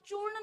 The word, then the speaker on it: चूर्ण: महसूस हो रहा है, हम चूर्ण नहीं बोल पाते ना, बाजार में चूरन मिलता है ना, चूर्ण नहीं बोलते, लेकिन बोला कि आम